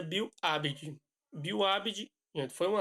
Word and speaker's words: Bill Aberdeen: Se pronuncia Bill Aberdeen.